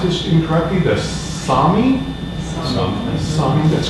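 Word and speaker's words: Sámi: But I may pronounce this incorrectly, the Sami, that's correct.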